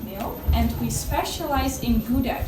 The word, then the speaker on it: Gouda: and we specialize in Gouda cheese which we pronounce as how death so all the cheese